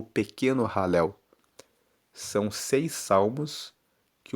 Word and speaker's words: Halel: Esses seis salmos são salmos que são conhecidos como salmos de ralel. Halel se escreve H a l e l e são